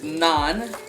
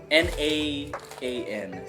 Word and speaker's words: naan: And then this is naan, N-A-A-N, naan, garlic naan.